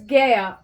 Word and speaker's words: Gaia: different deities um there's GA well it's pronounced Gaia but I like GA because it sounds more feminine I'm going to say